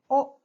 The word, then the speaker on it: お: hilagana is pronounced e the fifth one is o oh like odd it is not pronounced oh like old the sound of this hiragana is oh a short sound oh so the first five